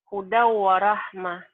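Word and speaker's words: هُدًى وَرَحْمَةً: Hudan warahmah. Idgham diguna. Jadi bacanya gimana hudan warohmah? Huda warahmah. Huda warohmah. Kenapa? Apa alasannya? Fathatain ketemu wow.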